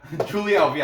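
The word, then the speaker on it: Julia Avila: you what yaz like julia and julia alvia julie alvey i know that's how you say it she's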